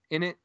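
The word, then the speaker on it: innit: In it? Yeah. Ain't it? In it. In it. Okay. As in, isn't it? In it. Yeah. So it's like how we say ain't it.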